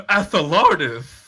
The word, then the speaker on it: Athelardus: No, Athelardus is how you pronounce it. When it's spelled, the letter A, the word the, and then lardus.